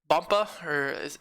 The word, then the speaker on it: Bumpa: So obviously getting into zone is enough, But Bumpa, that's how you say his name, he just uploaded a